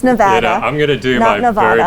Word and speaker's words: Nevada: our viewers you know we say nevada not nevada uh and so i